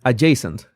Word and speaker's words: adjacent: Oh, the D is silent. Adjacent. Adjacent.